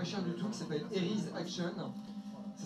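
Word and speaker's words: Eryi's Action: qui est pas cher du tout, qui s'appelle Eris Action. Ça s'écrit E-R-Y-I apostrophe S Action. Eris Action, en fait, c'est un petit jeu tout mignon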